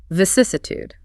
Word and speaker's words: vicissitude: Vicissitude, pronounced vcsud. VCude. That stress on the second syllable, ses, is crucial for sounding correct.